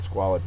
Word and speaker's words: squalid: to figure out what squalid means it is an adjective first syllable is accented it means filthy wretched